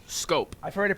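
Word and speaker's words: Schoop: It's shup, but it is pronounced scope. I've heard it pronounced four different ways though on the radio, on TV. No, I've I heard that scope is the real scope is the correct pronunciation.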